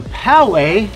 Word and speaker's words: Poway: we are going to Poway okay and that's how you pronounce it if you're Australian its PO way I'm not gonna lie